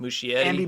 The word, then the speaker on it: Muschietti: Yeah, Andy, Muschietti.